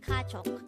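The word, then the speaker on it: 가족: in Korean the Korean term for family is kachok again it's this is pronounced the two-syllable word the first syllable is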